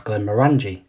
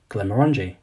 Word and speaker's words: Glenmorangie: is often mispronounced as Glenmorangie where in fact the second part of the name is supposed to be pronounced and sound like orangey therefore the correct pronunciation is Glenmorangie and for decades Glenmorangie